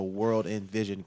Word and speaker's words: WRLDINVSN: So on Instagram, WRLDINVSN. So World in Vision, kind of spelled phonetically.